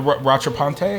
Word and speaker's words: Rattrapante: It's the Rattrapante. I believe Yeah. is how you pronounce it.